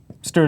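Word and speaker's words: std: use a stood list stood is how I pronounce the standard name space um what it is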